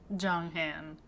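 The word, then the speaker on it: Jeonghan: Next, Jon Han, which according to this video I watched is basically how you say it. Yun Jong- Han Jong Han October 4th, 1995, lead vocalist and visual.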